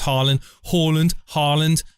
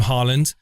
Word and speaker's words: Haaland: Whether it's Haaland. I'm going to call him Haaland. Don't say it wrong.